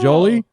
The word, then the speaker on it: Jolie: I was mad that we couldn't call him Jolly because his name's pronounced Jolie.